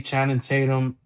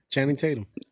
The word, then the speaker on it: Channing Tatum: Um it was dope to see Channon Tatum. Uh Channon Chann Yeah. Yeah. Channing Tatum. You said it right.